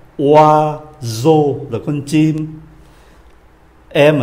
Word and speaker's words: oiseau: Chúng ta quen âm O này, S đọc là Z. Oiseau là con chim.